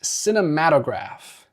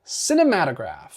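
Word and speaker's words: Cinématographe: John says it is pronounced cinematograph. Cinematograph. So I'm going to go with that from now on. Cinematograph. Thank you, John. He says it is French. So actually no stressed syllables.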